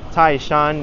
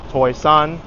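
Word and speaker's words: 台山: also learned Mandarin recently, so it's pronounced Taishan in Mandarin. So I'm kind of conflicted whether to call it by the Mandarin name, the lingua franca of the province, Toisan, the Cantonese, or Hoisan, which is the Taishan Hoisan dialect.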